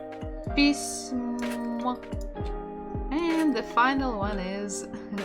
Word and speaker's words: письмо: Это моё п и с мягкий знак пись м письмо. And the final one is о. Письмо. Письмо. The stress is on the final syllable.